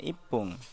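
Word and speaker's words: いっぷん: Untuk menit 1 itu dibacanya ipung.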